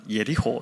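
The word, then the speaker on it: יריחו: 그래서 이제 꽃향기가 늘 그윽했기 때문에 향기의 도시다 이렇게 부르기도 했고, 그래서 이제 또 하나는 여리고라는 게 이제 히브리어로 예리호 이렇게 부르는데, 이 예리호가 향기라는 히브리어 단어하고 발음이 비슷합니다.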